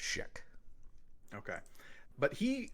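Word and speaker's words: Jonathan Schaech: It's just there's a lot of C's and H's. It's one of those complicated on paper, but it's just pronounced Sheck.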